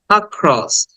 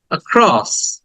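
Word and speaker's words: across: বলে বলবো ক্রস আক্রস আক্রস just short দেন খ এর উপর একটা স্ট্রেস চিহ্ন আছে এটাকে একটু স্ট্রেস দিব আক্রস আক্রস এই আ টাকে আবার টেনে বলা যাবে না অনেক দীর্ঘক্ষণ বলা যাবে না তাহলে ভুল হবে এটাকে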